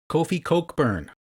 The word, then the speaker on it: Kofi Cockburn: Now, the way they pronounce this name on TV is a little different from the way it's spelled. So, I will say both. Kofi Cockburn.